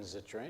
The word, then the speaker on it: Zittrain: Jonathan Zittrain, am I saying it right?